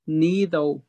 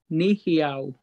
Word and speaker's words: Nēhithaw: Well, Cree has five dialects, and I'm each dialect, so it's, I would pronounce it Nēhithaw. But South is a wide dialect, and they say Nēhithaw.